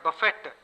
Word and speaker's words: buffet: But the same word, buffet, if the T is pronounced, it is used as a verb, which means to knock about or slap and batter and punch.